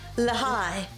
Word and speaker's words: Lehi: L-E-H-I. L-E-H-I. Lahai. Lahai. You say Lahai. Lahi. I say Lahi. I say Leh.